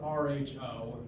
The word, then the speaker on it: rho: So if you haven't heard it in a minute, it's spelled R-H-O if you're spelling the letter in English, rho.